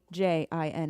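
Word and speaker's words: djinn: I love it yeah because Jin is like if it's spelled with a d j i n n it's a Jin Nikki thank you for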